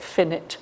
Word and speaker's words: infinite: things about english spelling when it says infinite we pronounce it finnit and when it stands by itself we pronounce it finite i can't explain why